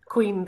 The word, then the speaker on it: Caoin: But your beautiful album, I believe it's pronounced Cuain. Cuain, that's correct.